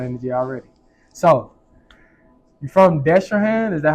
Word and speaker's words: Destrehan: Yeah, Destrehan.